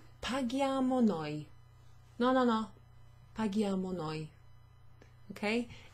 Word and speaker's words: paghiamo: So here, as in the example above, we add an H. Paghiamo, perfect. Now it sounds like the verb pagare because it's got that hard G.